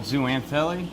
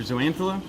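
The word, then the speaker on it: zooxanthellae: Which has a symbiotic dinoflagellate that lives in it called zooanthele, or zooanthela, depending on how you pronounce it.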